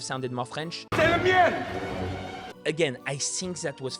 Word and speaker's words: mien: he says c'est le mien. I actually think he pronounces the N in mien because it is spelled with an N, but as you know, French has a lot of silent letters.